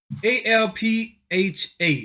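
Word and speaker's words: ALPHV: most notorious hacking groups a-l-p-h-a so it's it's Alpha spelled with a V at the end because the V is upside down a slash black cat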